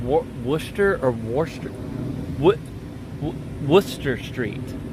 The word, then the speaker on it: Worcester: worcestor that's Worcester no I think it's pronounced Wooster and that's how it's spelled that's why that's you that is that is Worcester that is a Wooster which one is it it's no that could be woosh shirt too no that's not it that is not even close that is warchester no it's it's like Wooster that's how it's pronounced at least I believe